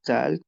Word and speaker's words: talk: Also, when we have these two letters together, you don't pronounce the L.